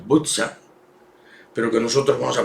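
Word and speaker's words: Буча: Quizás hayan visto las imágenes de esta ciudad que en castellano le dicen Bucha, pero que en realidad se pronuncia Butza, pero que nosotros vamos a pronunciar castellanamente como Bucha.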